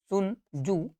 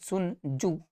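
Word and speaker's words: Sun Tzu: क्या है आपका सुन सुन जू ठीक है टी साइलेंट है सुन जू द आर्ट ऑफ वार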